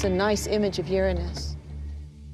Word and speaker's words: Uranus: pronounce the planet's name Uranus which is very likely closer to the original pronunciation of the name of the God after it was named